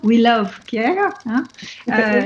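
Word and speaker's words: Wh2el of Care: Et donc je rappelle une fois le nom, donc c'est We Love Care, W-H-2-E-L of Care, donc de soins, qui se prononce donc We Love Care.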